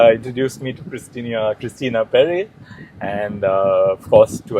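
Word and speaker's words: Perri: I mean, I I I I particularly like uh the songs of uh Adele, Christina Paris. Uh Mahi has been Yeah. Peris. Yeah. Perry. Sorry. Yeah. I I pronounced it wrong.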